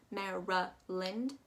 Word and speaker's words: Maryland: y is actually going to take on a u sound uh sound mehra lind and that l a n is actually going to sound more like an l i n going all the way